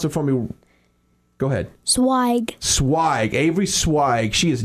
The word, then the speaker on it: Zweig: sure I say your last name once you pronounce it for me go ahead swag swag Avery swag she is 9 years old